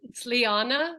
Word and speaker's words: Liané: My name is Liane. It's how it's pronounced as Liane. I know it's spelled strange, like Liane, but it's pronounced Liane.